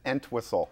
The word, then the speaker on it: Entwistle: Is Entwistle. Like a whistle with Ent put Entwistle on the front.